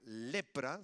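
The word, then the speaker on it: λέπρα: Quiero explicarle que la lepra, por cierto, la palabra griega lepra se pronuncia igual que en español, significa escamas de pescado, porque es una enfermedad que provoca una especie de escamas, ¿no?, en la piel.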